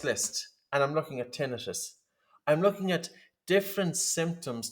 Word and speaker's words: tinnitus: the Wim Hof method cause tinnitus or tinnitus that's the way you pronounce it correctly and absolutely um there